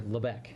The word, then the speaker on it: Lubec: There's actually, we were right near an area, well, I think technically that park, Quaddy Head, is in Lubbock, or I'm sorry, Lubec, I believe is how it's pronounced.